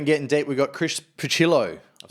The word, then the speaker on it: Pucillo: I thought you were Pucillo for a long time. Yeah, I get that. Some people chuck a Spanish twist, Pucillo.